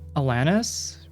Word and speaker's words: Alanis: that's still pretty cool Alanis with Lan being pronounced like LAN party Alanis still pronouncing the